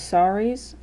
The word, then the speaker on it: sari: they always were those saris and yes s-a-r-i um actually the way i just said it sounds like sorry as in like i am sorry i hurt you as an apology it's spelled s-a-r-i which